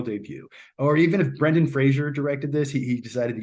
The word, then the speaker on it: Brendan Fraser: um and that's how you say his name Brendan Fraser everyone says it wrong but uh yeah for